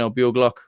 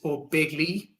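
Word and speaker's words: Ó Beaglaoich: Looking at right corner or right half back, so you got Brian O'Buglock. Roy McHugh. What would you be thinking here? First of all, it's O'Begley, Aaron. There's my lovely pronunciation going astray there.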